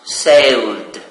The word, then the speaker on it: sailed: So it is pronounced sailed. Well, the verb sail ends with l, sound l. So plus ed, it is pronounced d, sailed.